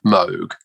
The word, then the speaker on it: Moog: moog pronounced his name moog i know that the proper way but they just are